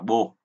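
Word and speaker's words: 母: Âm Hán Việt của chữ mẫu là âm Hán Việt là chữ mẫu, còn âm ông Yomi thì chúng ta đọc là bồ.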